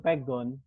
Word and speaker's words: pegon: Iya itu namanya huruf pegon. Pego. Ya. Pegon. Di Arab itu bikinan sendiri. Pegon Bu, bukan pego.